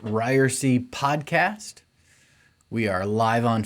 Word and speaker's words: Ryerse: this is ryersy this is the it's pronounced ryersy podcast we are live on facebook right now